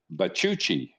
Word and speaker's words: Bachouchi: and you say his name, but Bachouchi. Did I get that right? You got it. You got it. Yeah, there you go. It's the spelling is but I kind of figured it out. Bachouchi.